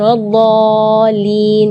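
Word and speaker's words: وَلَا الضَّالِّينَ: Terus setelah waladh di situ ada huruf lam yang ada di atasnya ada tasydid. Itu seringkali ketinggalan waladhdallin. Nah, itu berarti tidak ada tasydidnya.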